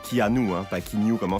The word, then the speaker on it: Keanu: anglaise hawaïenne et chinoises son nom qui normalement se prononcent keanu un pack in your